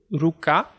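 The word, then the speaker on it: ruka: Então, por exemplo, ruká, são 2 sílabas abertas, vai cair em K na final.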